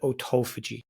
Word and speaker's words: autophagy: And the last one that you may or may not have heard of is autophagy, or other people might pronounce it autophagy.